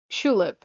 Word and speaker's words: Chulip: Uh but yes, Shulip, like tulip but with a ch instead of a t.